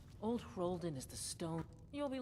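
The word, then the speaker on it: Old Hroldan: of years of History that's how you say it hen okay old hen is the stone you'll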